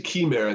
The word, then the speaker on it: Chimera: It's actually Chimera. Chimera is the Greek pronunciation.